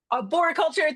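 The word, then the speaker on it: arboriculture: Arbo culture ar how do you say that? Georgia, you have to go off mute and tell me. Aborulture. Aboriculture.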